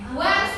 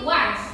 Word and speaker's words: once: Next, once upon time. Nah, bacanya juga jangan on tapi once.